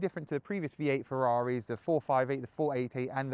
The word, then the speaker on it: Ferrari: It's always been my dream to drive a Ferrari, or a Ferrari, if I want to say it properly.